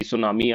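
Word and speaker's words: tsunami: इसको आप जैसे टी सुनामी नहीं बोलते हैं। टी साइलेंट होता है। सुनामी ही बोलते हैं।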